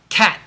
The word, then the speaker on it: cat: never do that cat a little bit of tea is okay but I will say cat I make the shape of a tea with my mouth but I stop the air there's no Tu at the end so if a t this is if a t is at the end of a word cat Summit um foot